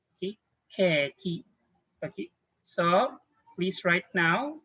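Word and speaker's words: ケーキ: Okay, but this one it will be pronounced. Let's have a line on top. We are saying now keki. Okay, keki.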